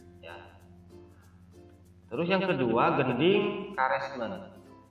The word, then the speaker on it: karesmen: Terus yang kedua gending karesmen. Karesmen ya dibacanya.